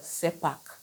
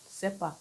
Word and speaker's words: CERPAC: Expatrate quota and the SEPAC. SEPAC means combined expatriate residence permit and aliens card. SEPAC is spelled C E R P A C.